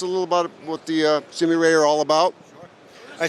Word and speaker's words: Sumire: just tell us a little about what the Sameer a are all about I said Samara is a huge departure from us first of all it's pronounced Sumi ray you got it right very good and it's